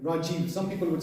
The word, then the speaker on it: Rajeev: like a short but if it's going on the right that becomes a long e so for example like for example my own name Rajiv some people would say